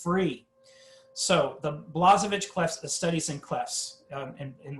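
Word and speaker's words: Blazhevich: free it's right there it's free so the blazovic clef studies in clefs in russia that's pronounced blejevich but we say blasovich here in america so this guy um wrote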